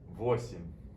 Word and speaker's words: восемь: It sounds a lot like семь, but you add the prefix vo to it. Восемь. Восемь. Notice here that the stress is on the first letter O.